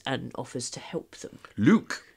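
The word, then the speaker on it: Luq: Luke. Yes, spelt with a Q. Really? Yes, L-U-Q.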